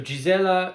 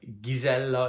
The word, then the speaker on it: Gizella: duy of Bavaria so gizella is the English pronunciation gizella is the Hungarian pronunciation gizela is the German pronunciation